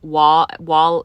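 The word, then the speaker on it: Waugh: Wall is spelled W A U G H.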